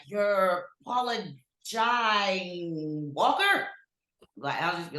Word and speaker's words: Jai: Very picky about how my name's pronounced, and it is Jay.